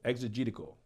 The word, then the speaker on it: exegetical: pronounce take your time e-x it's like exegete the text exegetical okay come on work